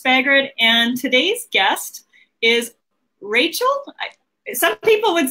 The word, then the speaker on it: Racheal: your host pagaron and today's guest is Rachel some people would say it Rachel or maybe Rachelle I never know it's my said Rachel yeah